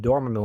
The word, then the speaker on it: Dormammu: at first but no they pronounce his name dormimal on the show overall the series is